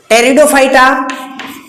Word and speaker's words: टेरिडोफाइटा: Third phylum है इसका टेरिडोफाइटा। टेरिडोफाइटा मत पढ़ लेना, टेरिडोफाइटा पी साइलेंट रहता है।